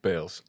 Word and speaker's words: Baals: mind, entrepreneur, visionary, Pat Baals, the founder of Chuga. Thank you, bro. Yeah, bro. Thank you. Yeah, Let's go. I'm excited for you. Baals. Yes, Baals. Oh, shit, my bad, bro.